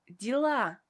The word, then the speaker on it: дела: Как, which means how, and дела, which means affairs or things. Pay attention that a vowel ye is pronounced as e in this word because it is not stressed.